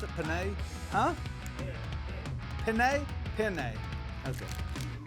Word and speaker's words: penne: what do you call it I did say Panini panae is that how you pronounce it penne huh penne penne and as imposter this one